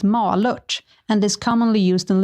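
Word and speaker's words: Malört: here we go hey guys malort is actually pronounced ma luch and is commonly used in liquor because it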